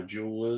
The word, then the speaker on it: joule: kitchen table that's about how much energy uh jewel is and it's spelled j-o-u-l-e all right so we've got a